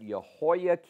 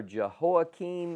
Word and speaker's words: Jehoiakim: and we call that we pronounce that yahoiah or jehoiakim in English this is Nico's doing